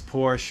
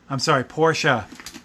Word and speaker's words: Porsche: I just learned that I've been saying it wrong all along. I thought Porsche was just a rich girl's name. But apparently that's the way that they want you to say the name of the company, so.